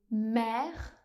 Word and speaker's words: mère: On va ajouter cette fois ci un accent grave sur la lettre E pour écrire ce son. Par exemple dans les mots mère ou bien fidèle.